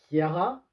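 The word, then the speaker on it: Ciara: Hank qui est le fils de Patty et Kiara. Oui, c'est avec un C, mais je crois que ça se prononce K, si je me souviens bien.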